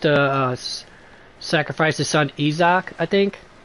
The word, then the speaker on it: Isaac: uh sacrifice his son Isaak I think I know you guys are going to say Isa Isaac I'm pronouncing its original um Aramaic pronunciation bite me but uh